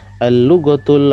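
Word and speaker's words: اللغة: Al-lughatul arabiyyatu sahlatun, ya, bahasa Arab itu, ya, mudah. Al-lughatul arabiyyatu sahlatun. Al-lughah ini huruf lam, lamnya huruf syamsiyah, berarti bacanya ada tasdidnya, ya.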